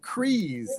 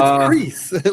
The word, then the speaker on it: Kreese: I've been pronouncing it Kreese, like breeze, but it's Kreese, like Chris. Yeah, but it's like Chris.